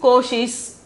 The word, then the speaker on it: कोशिश: Pronunciation is koshish.